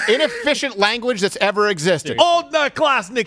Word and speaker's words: Одноклассники: The how is it pronounced? OK. It's short for the social media network is called OK. It's called Odnoklasniki, and it basically translates.